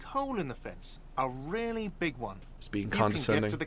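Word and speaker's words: réal: you owe me 130 Royale what's Royale oh excuse me you owe me 130 real he pronounces the r with a mock aristocratic accent the I or inter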